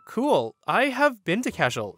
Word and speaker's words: Cashel: kin are from cashel i want to note that he pronounced it like it was klingon or something he pronounced it cash shell which is not how it's pronounced i said oh cool